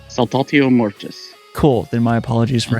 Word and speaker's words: Saltatio Mortis: I was looking up to see how to pronounce it. So it's Saltatio Mortis. Saltatio Mortis.